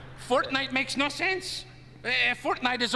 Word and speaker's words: Fortnite: Did you say fork knife? It's actually pronounced Fortnite. No, I don't think so.